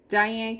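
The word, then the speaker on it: Diahann: i love that one how do you pronounce this die it diane diane carol yes oh that's nice and she's wearing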